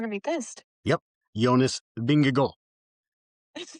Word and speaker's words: Vingegaard: Jonas Vingegaard.